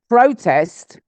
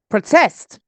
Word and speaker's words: protest: uh good so record record good next one protest protest yeah let's protest against the government let's protest